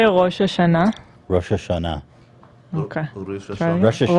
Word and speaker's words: Rosh Hashanah: So can you guys can you say Rosh Hashanah?